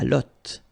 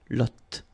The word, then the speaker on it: lotte: And then la lotte, final E not pronounced, lotte, lotte.